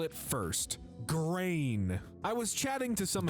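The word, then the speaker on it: Gráinne: Okay, so it is grine, or I assume grine. Pronounce it grain. Like rain, not like that.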